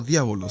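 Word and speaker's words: διάβολος: o el adversario bien griego se dice o diábolos sé que no vamos a buscar inmediatamente cómo es que se pronuncia el en griego diábolos significa calumniador y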